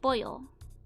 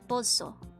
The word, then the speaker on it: pollo: Oh, Polo is normally pronounced Pollo. Oh, but in Argentine Spanish is Pozo.